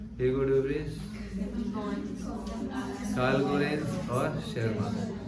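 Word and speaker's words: Tschermak: In 1900 3 scientist डिवरेस, Collins and वॉन शेरमान, T silent होता है या उसको टी शर्मार भी बोल सकते हैं, आपकी इच्छा है।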